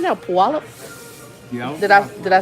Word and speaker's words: Puyallup: Puyallup? Yeah. Did I say it right? Yep. Okay. Yellow Puyallup, Washington.